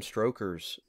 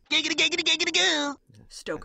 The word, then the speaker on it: Stoker: brought in the vampiric but even reading bram strokers stoker i got mispronounced yeah even reading dracula that is like